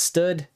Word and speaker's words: std: cheat sheet here that anytime that you see std it's usually pronounced stood or short for standard okay and then anytime